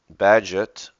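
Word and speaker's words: Bagehot: and interlaced With Every Act of life Mr badget we looked that up the pronunciation physics in physics and politics Endeavors to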